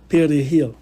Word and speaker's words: perejil: demander à un individu de prononcer le mot espagnol perejil, qui veut dire persil. Si l'individu n'était pas à même de rouler le R comme un Dominicain, la peine de mort lui était octroyée illico.